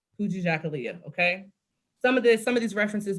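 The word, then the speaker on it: Kujichagulia: Or you can think like Kuji and then chocolate Leah, Kuji Jakalia.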